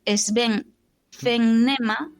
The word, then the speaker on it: Sven Fennema: Nada, que yo iba a decir que hay un fotógrafo que se llama Sven, se escribe S-V-E-N, Sven Fennema, tal como suena, con doble N, Fennema, que si en Google